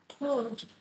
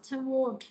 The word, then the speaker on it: toward: The women are walking toward a doorway. Cái từ này nó có hai cái đọc các bạn ha, đọc là toward hoặc là toward đều được hết, đọc cái nào cũng được hết, nhưng mà trong cái